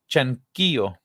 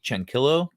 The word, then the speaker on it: Chanquillo: I'm assuming this is pronounced like in Spanish, or else it'd be Chanquillo, and it just sounds weird. So Chanquillo are considered to be